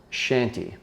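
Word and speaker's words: Chanty: all is actually something called shanty it's spelled c-h-a-n-t-y you've probably never heard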